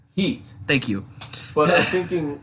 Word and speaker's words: Heat: the bucks its heat there's no ass at the end the heat will say it right I will mute your mic say heat heat thank you well that's